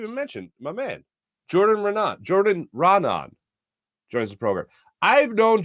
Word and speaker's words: Raanan: I go, Raanan? He goes, yeah. Put it, started. Put it. He's like, I don't even know if I'm saying it right anymore, but yeah, that's the way I'm saying it.